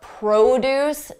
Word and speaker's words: produce: Have you been in a grocery store and noticed that there are signs for the produce department?